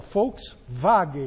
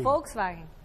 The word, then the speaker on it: Volkswagen: Helena jor o w o w em alemão é V não é como é que você fala Folks wagen Volkswagen wagen é com w então é wilsterman e